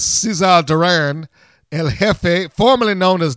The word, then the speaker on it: Cesar Duran: name right because it doesn't spell it like Caesar, but I will say it in as Cesar Duran El Jefe, formerly known as Dario Cueto if you've watched Lucha Underground.